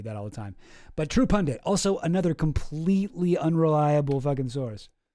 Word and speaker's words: True Pundit: True Pundant published an article about the True Pundant. Sorry, I've been going a little hard on people mispronouncing stuff, and I do that all the time, but True Pundit, also another completely unreliable source.